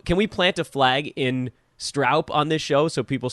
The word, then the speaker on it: Stroup: I mean, I thought I had heard you say it, the correct pronunciation of your last name. Can we plant a flag in Stroup on this show so people start getting it right from this point forward?